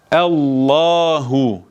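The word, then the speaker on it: الله: bakalım İlk örneğimiz Ee Allahu yazıyor bu duyduğunuz üzere allah allahu diyoruz neden Normalde lam harfi ince bir harftir Üstün geldiği zaman L diye okunur neden burada evla Hala diye Neden bunu kalın okudum Çünkü a verdim artı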